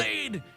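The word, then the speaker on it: χ-blade: X-Blade. It's just pronounced like Keyblade, even though it's just one Keyblade.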